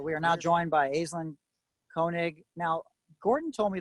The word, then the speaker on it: Aislin: google it'll be pronounced ashlan which is the celtic way of pronouncing it but uh my parents stuck with the way it sounds when you read it it's the way it sounds so azlin is the way to